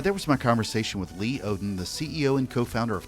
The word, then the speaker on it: Lee Odden: It's pronounced not like it's spelled at all. Yeah. Lee Odden, like Minnesota, and they can find me on Twitter.